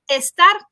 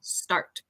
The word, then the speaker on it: start: s words start start so we don't want to say estar Tino start all right great job